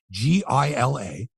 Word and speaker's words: Gila: It's spelled Gila, but as anyone knows, it's pronounced Gila, like Gila Monster, Gila River Arena, right?